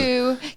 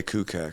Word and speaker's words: Kakuk: Kakuk is how you say it. Kakuk. It's spelled with Kakuk. You would say that like. I always say Kukak, Kukak.